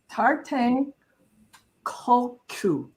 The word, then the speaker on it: Tarthang Tulku: So it's Tarthang Tulku. And that K, that KU sounds kind of like a G because I listened to